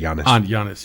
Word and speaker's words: Giannis: do you guys know Giannis and yes I can never say his name Giannis you can just say honest yes he's The Greek